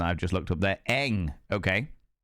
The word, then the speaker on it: Ng: In English, it is usually pronounced as Eng.